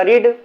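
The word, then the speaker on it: read: second form जब होता लिखता लिखा तो जाता रीड लेकिन पढ़ते इसको रेड पढ़ते क्योंकि आपको बताया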